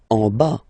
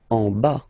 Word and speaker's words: en bas: En bas. Final S not pronounced. En bas.